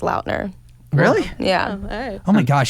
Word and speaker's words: Lautner: came up got it his last name was actually pronounced laudner really yeah oh my